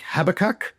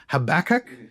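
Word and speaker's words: Habakkuk: Uh for example in Australia and England names like Habac uh in I think in America it's Habach as they say it later and Isaiah or Isaiah, right? Uh they're often differently uh pronounced.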